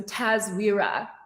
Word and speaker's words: TASWIRA: this it's weird okay the correct pronunciation of your clothing line yes so tazvira um which is an acronym